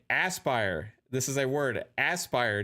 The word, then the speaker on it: Aspyr: say Aspire because I say Aspire or aspire I don't know I'll say I aspire to be great I'll say it like that i i s i aspire to be happy maybe it's a pronunciation thing you know what I mean um I'm I'm pretty sure it's not asper though um rwk88 to show